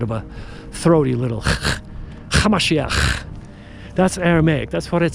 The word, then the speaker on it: Hamashiach: His real name was Yeshua, Hamashiach. That's how you pronounce it in Aramaic.